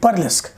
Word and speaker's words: burlesque: तो इसकी स्पेलिंग देखिए, BURLESQUE, बर्लेस्क।